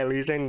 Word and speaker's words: Elysian: And Black Sky Elysian, that's right.